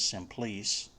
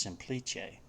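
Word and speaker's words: Semplice: looks like it says simplice but i believe it's italian and it's actually pronounced simplice which was a debian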